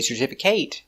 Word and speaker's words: certificate: 4 syllables. Stress the second syllable.